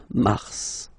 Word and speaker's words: Mars: then M okay so in a way it's an exception because normally final s is not pronounced in French okay we've got some exceptions and this one is one of them so Mar pronounce the final s Mar Mars okay then